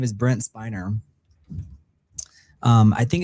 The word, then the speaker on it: Spiner: But his name is Brent Spiner. Um I think it's people I think people pronounce it spinner but I think it's actually spiner but it looks like spinner but Brent sp